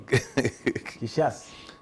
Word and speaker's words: Kishase: You know, TESO, we don't have SH. Kishase. Hmm? My pronunciation. Can you pronounce that properly? Kishase.